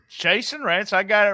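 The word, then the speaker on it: Chasyn Rance: How do you pronounce his name? Chasen Rance. Chasen Rance.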